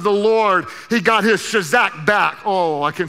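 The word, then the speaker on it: chazaq: found strength comes from a hebrew word i say shazak just for fun it's spelled c-h-a-z-a-q shazak and it means to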